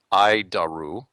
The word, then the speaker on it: ADIRU: data initial reference unit we pronounce it I daru idaru it's horrible name but